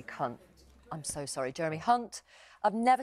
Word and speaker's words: Hunt: apologizes as she becomes the latest star to mispronounce the foreign secretary's name and call him Jerry Cunt live on air. Steve Ryan, you say that the man that you're backing, Jeremy Cunt, I'm so sorry, Jeremy Hunt, I've never said that before in my life.